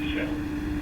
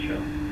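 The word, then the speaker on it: Kjell: Pronounce like shell. It's shell.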